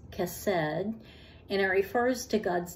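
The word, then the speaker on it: chesed: adherence loyal and the the Hebrew word is cassed c h s e d pronounce cassed and it refers to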